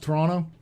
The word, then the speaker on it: Toronto: Also, it's pronounced Toronto.